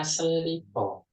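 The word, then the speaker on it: 슬리퍼: sandal sandal bahasa Koreanya selipo mengaduk bahasa Inggris ya Iya selipo selipo itu selipo s e e l sel sel R ketemu R dibacanya l selipo sama kayak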